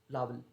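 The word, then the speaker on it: larval: To many people can disturb adult and लावल habitat, लावल means insects होते हैं, काइंड ऑफ लावल, ये आर साइलेंट होता है, लार्वल नहीं लावल, ओके, लावल बोलते हैं, ठीक है।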